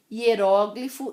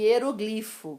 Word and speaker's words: hieróglifo: Hieróglifo e hieroglifo, que vocês devem ouvir bastante em história.